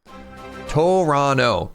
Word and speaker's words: Toronto: You don't pronounce most of the words written there. Toronto.